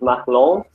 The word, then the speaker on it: Marlon: Actually, the Brazilian pronunciation is Marlon. My name is supposed to come from French, so it sounds French, isn't it?